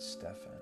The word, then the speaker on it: Stephen: whose nameless Stephen but it was spelled s-t-e-p-h-e-n they pronounced it Stefan yeah cats are just